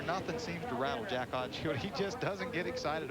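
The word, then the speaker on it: Haudenschild: And it is pronounced hot and shield windshield because that child on the end, the wild child, a lot of people mispronounce it.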